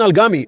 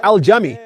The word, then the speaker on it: al-Jami: with the birth of Muhammad Aman al-Gami, or al-Jami, for those who get upset about the Egyptian pronunciation of the letter Jim.